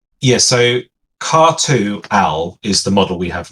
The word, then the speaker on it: Khartu-Al: Now help me, Jale, if I'm not pronouncing this correctly. Is the Qatar? Yeah, so Khartu-Al is the model we have now.